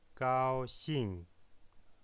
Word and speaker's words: 高兴: Tong, gao xing, gao xing. Gao a un ton 1, suivi du mot de la syllabe xing, qui est un 4e ton. Gao, ton 1, xing, ton numéro 4.